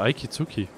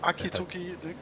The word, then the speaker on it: Akizuki: Warum sagst du immer Aikizuki? Heißt das so? Spricht man das in Japanisch so aus? Aikizuki. Nicht das kann, das ist ein Akizuki, ja gut. Das ist kein I vor dem K.